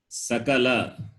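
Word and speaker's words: सकल: very important in samskritam if you are wrongly pronounced it can mean different it can mean different like for example sakala or shakala both are different sa and one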